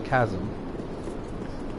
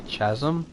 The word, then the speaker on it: chasm: went across like a chasm. Or, if you don't know how to pronounce it right, you can say chasm, but then you should get beat up a little.